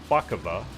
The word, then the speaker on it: Szpakowo: name of the map that I'm on is spaka uh it's spelled s is it szp yeah szp a